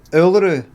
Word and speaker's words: Uluru: Uluru. Emphasis on the first symbol. Uluru.